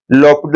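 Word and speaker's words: L'Hôpital: यूज लॉ पिटल rule जिसको कि कई लोग एल हॉस्पिटल रूल बोलते हैं लेकिन एक्चुअली करेक्ट प्रोनाउंस एशन उसकी लोपिड रूल है इस क्वेश्चन को भी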